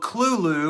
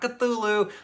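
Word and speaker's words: Cthulhu: with I just listened to the call of Kulu which I learned that's how it is actually pronounced not cthulu I told this to my girlfriend and she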